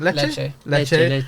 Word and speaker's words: Lecce: Patrick Dogu, you know, from how do you pronounce the team? Lecce.